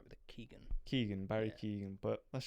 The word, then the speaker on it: Keoghan: obviously, since as none of us can actually pronounce his second name, I think you were right with the Keegan.